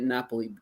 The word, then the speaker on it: Napoli: Napoli Pizza so yeah Napoli Naples as we say in the United States but they said Napoli don't sit in Naples say Napoli when you're there okay that's how they say it um they won't get